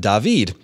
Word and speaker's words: David: salutations to camp goose my name is David pronounced dahveed and I am a